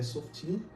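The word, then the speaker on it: שופטים: E o pronúncio hebraica é Softim.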